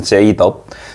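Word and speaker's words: J-Dub: 제일런의 J와 윌리엄스의 W를 덥이라고 발음을 해서 제이덥.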